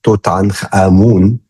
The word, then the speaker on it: Tutankhamun: His full name, I pronounce it in like the how we pronounce it in Egypt, Tutankhamun.